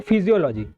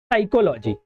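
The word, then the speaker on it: psychology: अब देखिए इसे मोस्टली लोग क्या पढ़ेंगे? फिजियोलॉजी। लेकिन ऐसा नहीं है। यहां पर क्या है? बी साइलेंट रहता है। तो इसे क्या पढ़ते हैं? साइकोलॉजी।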